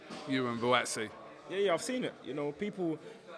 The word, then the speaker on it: Buatsi: Buat, they can't pronounce his name. I'm saying Buatsi.